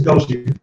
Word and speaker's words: Goshi: We got a very funny Aaliyah Goshi. I hope I said it right. It's Goshi. It's Goshi.